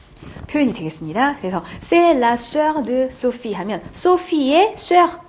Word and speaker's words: sœur: 자, sœur 발음도 주의하세요. sœur. 좀 어려운데요. 이 발음도 정리해 두시기 바랍니다.